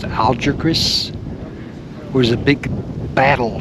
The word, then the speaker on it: Algeciras: That's the town of, I believe it's pronounced Algeciras.